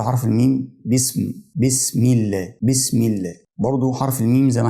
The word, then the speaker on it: بسم الله: الكلام اللي بعد كده بسم الله كلمه الله بسم الله الهاء لو خدنا بالنا الاخيره في كلمه الله